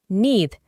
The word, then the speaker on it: need: Para pronunciarlo correctamente, vamos a reemplazar la doble E por una I larga, need.